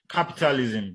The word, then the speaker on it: capitalism: So we have words like capitalism. So the stress is on the first syllable, which is cap.